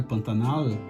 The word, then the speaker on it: Pantanal: tem uma história e regiões do Brasil ainda pronunciam o L da forma com a língua no céu da boca, né, Pantanal.